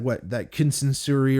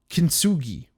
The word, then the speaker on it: kintsugi: And there's that kinsansuri or whatever, kinsanugi. I don't want to butcher it. I gotta say it. I gotta say it right. The Japanese art of like gold. It's like kintsugi, which is like the